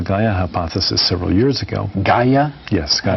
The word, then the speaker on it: Gaia: Gaia? Yes, Gaia. How do you spell that?